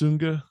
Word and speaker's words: Sunga: recovery there but so you took um it's pronounced sunga so you put you took you took the